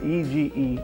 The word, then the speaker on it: Ege: This one is called Ege, and I'm pretty sure that's how you pronounce that, E-G-E, Ege, from the house of Nishane Ege.